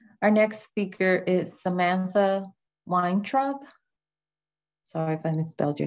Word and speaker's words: Weintraub: Our next speaker is Samantha Weintraub. Sorry if I misspelled your name, mispronounced it.